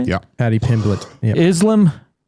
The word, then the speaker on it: Pimblett: Paddy Pimblett.